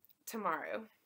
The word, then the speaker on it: Tamaru: Tamaru.